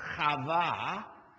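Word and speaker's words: חַוָּה: Book of Genesis Eve which in Hebrew is pronounced kava which means living because the Bible says she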